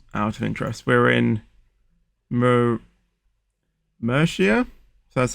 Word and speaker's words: Murcia: the moment, just out of interest, we're in Murcia, so that's how you pronounce it, in Spain, and we're going to be going all the way to Porto in Portugal.